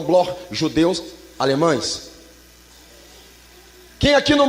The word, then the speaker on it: Bloch: Se escreve Bloch, mas se pronuncia no alemão Bloch, judeus alemães.